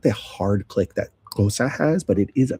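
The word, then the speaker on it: Xhosa: Now, this is one of the lang kosa has a very hard click.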